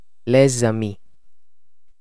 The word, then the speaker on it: les amis: fathers the friends now you might have noticed me pronouncing the last noun as les amis this is called liaison in french or the pronunciation of the final consonant of a word together with the first vowel of the word that follows now since this video